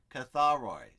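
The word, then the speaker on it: καθαροί: see the word Cathar Cathar oi Catherine but accent on the last syllable maybe Kothari easier for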